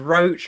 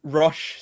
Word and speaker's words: Roche: I had Roach, I had Rosh, I had Rocher even. Uh it's actually um Rosh.